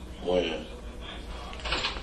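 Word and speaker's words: Wynn: Win. Win? Or Wen?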